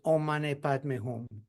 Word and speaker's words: Om Mani Padme Hum: It's known as a 6-syllable mantra, and is the Om Mani Padme Hum. So it's Om Mani Padme Hum.